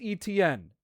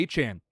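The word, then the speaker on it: Etienne: It chang He changed the pronunciation of his last name. Uh, to Achan.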